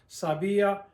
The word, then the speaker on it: sabía: To break up the diphthong so that the I and the A sound as two separate sounds. I-a. Sabía, sabías, sabía, sabíamos, sabían.